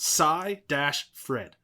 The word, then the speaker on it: Seyfried: It's pronounced Psy-Fred. Seyfried. Okay, Seyfried.